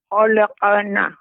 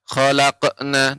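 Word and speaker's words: خلقنا: Khalaqana. Gitu. Iya begitu, Nek. Khalaqana. Khalaquna, tidak khalaqna. Nah, seperti itu. Nah, ini yang Khalaqana.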